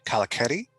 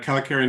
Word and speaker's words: Kalakeri: domains uh uh forgive me if i uh mispronounce the names uh kalaketi and um naranjan am i am i close uh so uh kalikari niranjan i did and then balachan is what